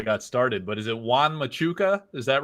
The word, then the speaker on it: Juan Machuca: But is it Juan Machuca? Is that right? Yeah, it's pretty much the name Juan Machuca.